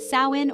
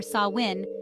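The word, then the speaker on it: Samhain: Sam Hae the pagan origins of Sam Hae pronounced sawin or sawin has its roots in ancient Celtic traditions and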